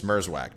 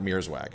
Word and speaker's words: Mierzwiak: It's Mierzwiak, not Mierzwiak.